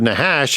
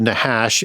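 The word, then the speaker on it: נחש: And the word nahash has a root word nahash in Hebrew. That's a ch there pronounced with an h sound, not a k sound or hard or sound.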